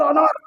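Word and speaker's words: honour: तो वो ऑनर बोलते हैं। एच ओ एन ओ यू are spelling. अब देखिए साहब इसको ऑनर नहीं बोले वो। ऑनर नहीं बोले। ऑनर इसलिए हमने एन लगा दिया।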